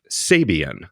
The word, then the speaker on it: Sabian: sponsoring it and um Sabian that's how you pronounce it it's Sabian guys yeah and Andy zilan